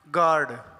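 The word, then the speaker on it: guard: गार्ड, जिल्टी। तो इस तरह से ये जो दो लेटर हैं ये साइलेंट कब होते हैं, रूल्स लिखे हैं।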